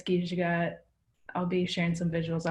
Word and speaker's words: Giizhigad: if anyone wants to follow me, it's Gijagat.